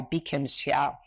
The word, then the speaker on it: Bi-khim Hsiao: What she prefers is the Taiwanese pronunciation of her name.